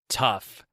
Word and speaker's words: tough: hope you enjoyed our TT Talk number four tough H this one's tough tough is tough to